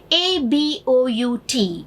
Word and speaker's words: about: AGO is generally pronounced in our Indian English way as ego. ABOUT is pronounced as about. No, make it a remembering thing that it is not A sound, it is A sound as represented by the symbol here. About, ago, allow.